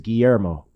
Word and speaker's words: Guillermo: yeah mr starquist yeah and he said my name wrong at first on the first day and i was like oh it's it's guillermo noted guillermo i might get it wrong correct